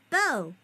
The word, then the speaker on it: bow: This tells you that this b is pronounced bow, a noun that names two loops made from knots.